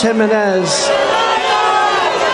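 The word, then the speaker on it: Jiménez: that straighten out Carlos Jimenez really wow Carlos why don't they just write it phonetically on his teleprompter so it says H Jimenez instead of G which of course JZ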